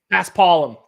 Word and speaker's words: Paspalum: I don't know how to pronounce it. Paspalum? Paspalum. Yes, that sounds a lot more correct.